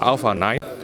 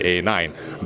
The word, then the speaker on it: Alpha 9: as the Alpha 9 previously I've referred to it as the a9 but LG has come back to me and say that alpha is the correct way to actually pronounce it so maybe you would like to pronounce it as such so the Alpha